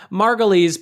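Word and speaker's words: Margolyes: you want to look her up it's Miriam margoles but it's not spelled like Juliana margoles it's spelled like Margo like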